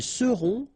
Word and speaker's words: seront: the end, et serez, ils seront, final T not pronounced, elles seront.